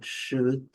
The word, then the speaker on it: should: Coloquei aqui também would e would, sempre lembrando, nenhum dos dois é pronunciado, nem o O nem o L, e a pronúncia é bem curta e rápida, should, could.